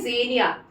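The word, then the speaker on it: xenia: दे रहा है तो उसको हम बोलते हैं जेनिया ठीक है स्पेलिंग होती है एक्स ई एन आई ए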